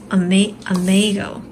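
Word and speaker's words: imago: Yeah, it's spelled I-M-A-G-O, but it's Amago.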